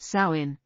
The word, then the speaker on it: Samhain: celebrated the Festival of Samhain pronounced sain marking the end of